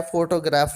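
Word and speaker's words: photograph: यहाँ पर फो पर ज़्यादा फोर्स लगेगी, इसलिए जो इसका आंसर बनेगा राइट वो बनेगा ए।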